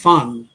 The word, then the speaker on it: van: একটা কথা এখানে জানিয়ে রাখি বেডভেনের নামটা যদি আপনি ভালো করে দেখেন তাহলে দেখবেন মাঝখানের নামটা হচ্ছে ফান ভি এ এন ওটা উচ্চারণ হবে ফান লুতবেশ ফান বেঠুন এই ফান কথাটার অর্থ